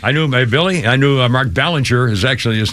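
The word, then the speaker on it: Belanger: it's by the way it's be should be Bellinger but but it's pronounced Mark Ballinger that's why everybody called him Mark Ballinger I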